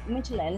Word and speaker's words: Midtjylland: Midtjylland, is that how it's pronounced? Midtjylland.